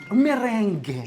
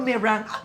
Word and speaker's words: meringue: Merengue. Yan, merengue. Okay. Pero merang. Merang. Merang pala pronunciation Yes, ng merang.